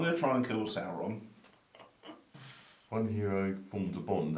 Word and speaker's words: Sauron: Unfortunately, he took his name from the Lord of the Rings character, so it is pronounced Sauron, even though he's a dinosaur.